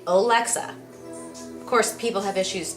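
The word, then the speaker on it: Olexa: it on to me why we pronounce the last name like that my last name is pretty simple o-l-e-x-a alexa of course people have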